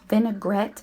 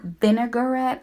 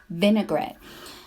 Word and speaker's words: vinaigrette: a huge pet peeve of mine it's actually pronounced vinaigrette and not vinaigrette I don't know why people say that it's so weird it's pronounced vinaigrette anyway you just want to add little by